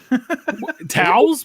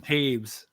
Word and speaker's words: Toews: Towels? What? How do you? What? What's your name? Taves. Taves. Taves. That's how it's pronounced. It's not Jonathan Toews.